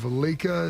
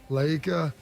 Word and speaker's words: Laika: The first to do a full orbit is, I believe, Laika is how it's pronounced. Laika, a dog in 1957.